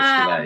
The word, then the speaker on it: Chabert: Lacey Chabert. Oh, Lacey Chabert. Yes, Chabert, yeah.